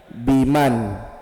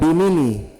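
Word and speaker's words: بِمَنْ: Bacanya apa? Biman. Ah, jangan bilang bimini. Jangan biman tetap disukun.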